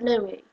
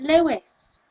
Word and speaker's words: Louis: Pronounce it Louis. Apparently Americans pronounce it Lewis.